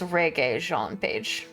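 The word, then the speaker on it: Regé-Jean Page: on um we are looking at how to pronounce reg Jean it's reg Jean page reg Jean page okay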